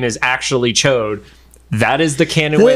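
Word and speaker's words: Ch'od: did you know that the name of the big lizard character is chode and not Chad chode yes are you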